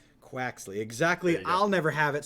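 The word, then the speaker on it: Quaxly: sprigatito Fue Coco and Steve how do you pronounce the duck quack Croxley quaxley exactly I'll never have it so I'm not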